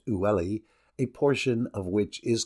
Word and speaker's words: Uli: Seda is supplied with water from the river Uli, pronounced Ulli, a portion of which